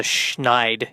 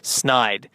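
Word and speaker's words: Snyder: rage it's just if people could look at the name phonetically SN y d e r and just put together that it's not the schnide it's snide it would be nice it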